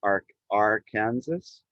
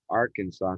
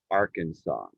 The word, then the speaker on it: Arkansas: like to students like arc r kansas but the s is silent in arkansas so if you take